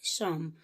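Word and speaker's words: Psalms: Spelling देखिए, PSALAMS ये इसकी स्पेलिंग है, बट प्रोनाउंसिएशन होता है शाम।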